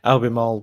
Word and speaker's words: Albemarle: that albuquerque did you say or alabama no albemarle no sorry albemarle where where is that north carolina north carolina